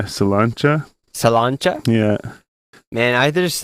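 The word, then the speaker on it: Sláinte: In Ireland, they say Salancha. Salancha? Yeah. Man, I just think I think it's spelled Slanty, like SLANTE.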